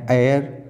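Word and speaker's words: heir: his eldest son, उनके बड़े पुत्र एंड एयर, ये एच जो है इसमें साइलेंट है, उत्तराधिकारी जहांगीर, वो कौन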